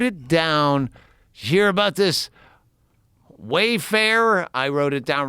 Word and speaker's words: Wayfair: Wayfair, Yeah, Mayfair. it's not Mayfair. It's You- Wayfair. You said it right Wayfair? the first time.